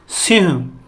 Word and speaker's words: सिंह: ठीक है, लिखते ऐसे हैं लेकिन उच्चारण इसका सिंह करके करते हैं, तो हम सिंह ही लिखते हैं इसको।